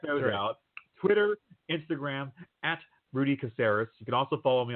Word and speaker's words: Caseres: And let's spell your last name out for anyone who isn't certain on how to spell it. That's CASERES.